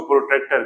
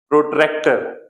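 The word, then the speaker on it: protractor: geometry box के अंदर उसको प्रोटेक्टर कहते हैं ठीक है प्रोटेक्टर नहीं प्रोट्रैक्टर ठीक है लिख दूं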